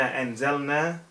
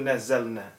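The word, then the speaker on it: نزلنا: I said inna anzalna al-dhikr wa inna lahu lahafidhun, and the correct pronunciation or the correct reading of the Quran is inna nahnu nazzalna. Not anzalna, but nazzalna.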